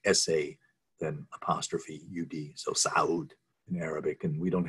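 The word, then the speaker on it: Sa'ud: so you know that it should be pronounced as two separate syllables if your your throat can constrict it's um but if you can't it's saud so ibn saud um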